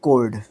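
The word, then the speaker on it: choir: देखो जहाँ पे सी एच लिखा मिलता है 2 मिनट पहले मैंने, 2 मिनट क्या हुए होंगे, 10 सेकेंड हुए होंगे, चाहे मैंने आपको बताया, लेकिन यहाँ पे क्या प्रोनाउंस हो रहा है ये, ठीक है, कोर, ठीक है, ये थोड़ा सा ध्यान रखना पड़ता है।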